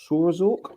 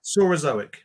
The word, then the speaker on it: Saurozoic: Like Mesozoic, I guess. Yeah, Saurozoic.